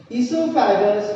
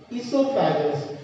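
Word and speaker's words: oesophagus: O is very silent here, so you can pronounce esophagus.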